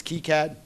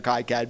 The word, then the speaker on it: KiCad: if the if the project founder says it's kicad it's kicad and that's the always been mind